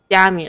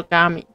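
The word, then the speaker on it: 嘉明: 结果后来发现他的名字的念法比较接近于广东话，所以他不是念作佳明，而是念作嘎明。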